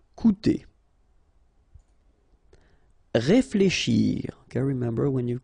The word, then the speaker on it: coûter: Okay, keep in mind that even if you've got this accent circumflex on the top of U, it doesn't change the pronunciation, so it doesn't change this combination of two vowels here, so it will be OU, okay? Coûter.